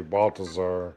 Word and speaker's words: Baltazar: I would say silent Z, Baltazar. Yeah.